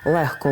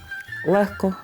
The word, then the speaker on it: легко: везти дужка мов ти винятком тут є лише глотковий звук г який у словах легко вогко кігті нігті Діхтяр та похідних від цих слів вимовляється як х легко вогко нігті кігті Діхтяр